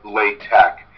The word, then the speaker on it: LaTeX: a while lay tech la te X is pronounced Lai tak TX is pronounced tap that's just a tradition all right so now